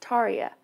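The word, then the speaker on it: Tarja: learn somebody left a comment and said it's pronounced Taria so that makes it so much easier for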